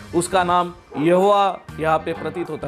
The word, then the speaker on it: यहोवा: मेरा नाम रहेगा और उसका प्रोनंसिएशन यहोवा यहोवा और जब हिब्रू भाषा में यहां पर स्क्रीन पर हम देखते हैं यहोवा यह जो शब्द है उसकी स्पेलिंग आती है योद हे वाव हे उसका मतलब यह होता